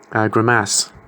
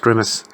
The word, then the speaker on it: grimace: For 30-something years, I was pronouncing a word which is not pronounced like this, grimace. which apparently is pronounced grimace. But my granddad used to pronounce it grimace, and he also used to pronounce.